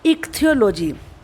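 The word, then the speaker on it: ichthyology: Fifth word में हम इसको कैसे पढ़ेंगे, इक्थियोलॉजी। पहले आई और जो सी एच है वो का पढ़ा जाएगा, और आप जानते हैं टी एच का था बनता है।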